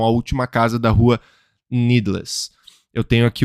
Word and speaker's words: Needless: A Última Casa da Rua Needles. Na verdade não é Needles, né? Eu pronunciei errado. Seria a pronúncia de inglês que é Needless.